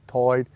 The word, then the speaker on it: tide: For example, the pronunciation of words like tide as toid, you can hear among older people in Prospect, and you can also hear on the Outer Banks.